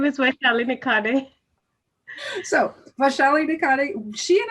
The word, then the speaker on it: Vaishali Nikhade: My name is Vaishali Nikhade.